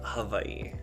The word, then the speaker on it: Hawaii: people that don't uh its Hawaii so it's almost like a V yeah they sound interesting